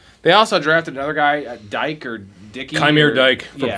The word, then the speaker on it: Dyke: They also drafted another guy, Dyke or Dickey. Chimere Dyke from Florida. They actually drafted him like. I think both in the fourth it's round, actually pronounced DK, but whatever.